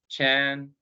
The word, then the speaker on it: Chan: So Chan is the Chinese pronunciation. In the West would be more familiar with Zen, which is the Japanese pronunciation.